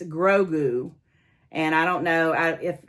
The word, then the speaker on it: Grogu: It's Grogu.